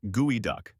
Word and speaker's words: geoduck: The name is pronounced geoduck.